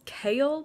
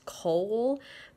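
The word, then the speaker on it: Chaol: whatever they call it his name is kale but it's spelled ch AOL and my brain keeps thinking it says coal but then it'll immediately jump and say no it's I think it's Kale like chaos but instead of an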